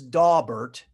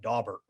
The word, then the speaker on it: Daubert: said that word right it is daubert and those of you who are looking to find pronunciations for cases that maybe you're struggling with there is actually a site out there at yalelaw.edu that takes basically every case ever and then actually had audio for how to say that so i've probably butchered that one before so uh that is how you say that dawber so let's go to